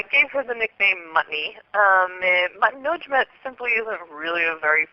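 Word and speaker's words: Mutnodjmet: Well, I pronounce it Mutnujmat, but the Egyptians didn't record vowels, so for all we know, her name could have been Mutnujmat.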